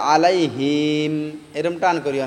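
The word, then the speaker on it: عليهم: আলাইহিম সিরাতাল্লাজিনা আনআম গাইরিল মাগদুবি আলাইহিম আলাইহিম অনেকজন কয় যে আলাইহিম এরকম টান করিও না হিম টান হবেন না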